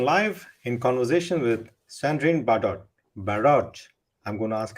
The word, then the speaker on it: Bardot: Is it Bardot. Baron? Bardot. So Bardot. the T at the end is not pronounced.